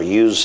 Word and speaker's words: Uz: This land called the Land of Uz, or UZ, or Uz, whatever depends on whether you're from Texas or the rest of the world is how you pronounce it.